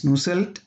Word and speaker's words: Nusselt: Grades, Franz Grashof, LMK Bolter, Ernst Mach, Wilhelm Nusselt, in German it is pronounced as Nusselt, J.C.